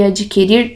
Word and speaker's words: adquirir: As palavras distinguir, extinguir e adquirir não têm o U pronunciado.